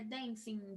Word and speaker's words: dancing: Então é dancing, jumping, tem o som do N no final, tá? Então, singing, swimming, jumping, dancing, a gente não pronuncia o G, tá bom? Não é dancing, jumping. Não. É como se o G não existisse ali.